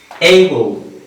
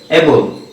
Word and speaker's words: able: Dear viewers, এইবল, এইবল, এইবল সক্ষম, সমর্থ, adjective. কিন্তু আমরা বাংলাদেশে উচ্চারণটা কিভাবে পড়ে থাকি দেখবেন, ম্যাক্সিমাম স্টুডেন্টস এটা উচ্চারণ করে থাকে এবল, এবল, এবল।